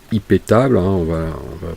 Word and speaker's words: iptables: aie pitié volts alors iptables prononcé à la française c'est une règle qui